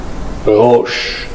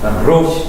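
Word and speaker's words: רֵישׁ: 개수 전통 음이라 그러는데이 목젖이 떨리는 소리예요 그니까 혀가 떨리는 소리가 아니라 사실은 로쉬 근데 이제 제일 비슷하게 그냥 혀 좀 안쪽을 떨어 가지고 로이라고 그냥 발음하시면 되겠다 근데 로시 이러면 좀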